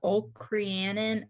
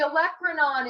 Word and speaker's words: olecranon: that there it's the oak cream in i know it didn't say it right so the olecranon is the top portion